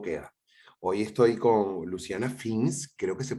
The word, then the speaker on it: Fins: Hoy estoy con Luciana Fins, creo que se pronuncia así, ¿verdad, Luciana? Fins.